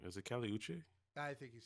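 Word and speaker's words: Kali Uchis: Like we also had, and I always say her name wrong. Is it Kali Uche? I think he's saying it right. Uchis? Kali Uche. Uchis, yeah.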